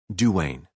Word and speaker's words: Dwayne: She had been closeted all day with Cousin Dwayne, pronounced Duane, who was about to be married.